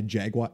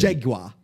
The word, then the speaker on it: jaguar: So my pick would be to get stalked by a jaguar. I can't say it like they say it. You'd want jaguar. Jaguar. You don't pronounce the R, and you got to put jaguar.